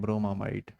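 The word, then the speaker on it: bromamide: ऐसे देखो, हिंदी में ब्रोम एमाइड, है ना? इसे इंग्लिश प्रोनाउंसिएशन हम लोग करते हैं ब्रोमामाइड।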